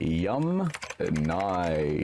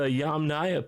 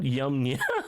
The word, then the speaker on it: Yamnaya: Yum Nye. Okay, so the Yamnaya people, not Yamnya.